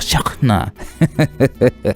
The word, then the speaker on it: Shehna: wewe wewe ni mzuri shena ustafa akakubali pigo kudaya deki walai hata mimi mwenyewe nakuambiaje shena mzuri wewe basi haral shena shena shena shena kweli shahna alfu shena yaani jina lake linatamkwa shahna eh bwana tukutane sehemu